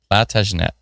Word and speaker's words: Plantagenet: Atlantis told me before how to pronounce this. Plant Age Net.